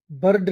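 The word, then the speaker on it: bird: बर्ड नहीं आर जो है ना साइलेंट रहेगा। बस हल्की सी साउंड आएगी।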